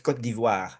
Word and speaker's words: Côte d'Ivoire: don't call Ivory Coast, it's Côte d'Ivoire. If you Côte guys d'Ivoire. can't pronounce Côte d'Ivoire by now, something's wrong with you, okay?